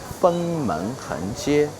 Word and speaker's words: Fengmen Hengjie: The first thing you must to memorize the pronunciation. Fengmen Hengjie Fengmen Hengjie.